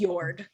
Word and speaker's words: Njord: they did not specifically they said njord i thought yeah they said they said yord oh the names are very similar yes they are i thought that i had missed a syllable nope it is yord oh who's who's yours